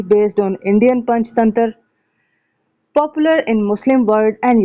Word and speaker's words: पंचतंत्र: की जो स्टोरीज हैं पंचतंत्रा नाम है। एक्चुअली कलीला व डिमना जो है क्या नाम है इसका एक्चुअल नेम? पंचतंत्रा या पंचतंत्र। ठीक है? यह ए साइलेंट होता है हिंदी में।